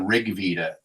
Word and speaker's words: Rig Veda: Um, uh, the one I'm familiar with, I've read is the Rig Veda. Rig Veda, how do you pronounce it?